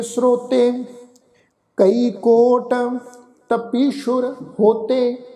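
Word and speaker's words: ਤਪੀਸੁਰ: कई कोट तपीशुर होते, ये जिहड़ा शब्द आ जी तत्ता पप्पे नूं बिहारी, सस्से दे पैर विच औंकड़ लगा हुआ है अगे रारा अखर, सस्से दे पैर विच जिहड़ा औंकड़ है उसका असी उच्चारण करने गल ख्याल विच रखो, अते सस्से नूं जिहड़ा वा बिंदी लगा के उच्चारण करांगे, सस्से दे पैर च बिंदी लग के उच्चारण होएगी तपीशुर, असल विच जिहड़ा शब्द आ उह आ जी तपीश्वर।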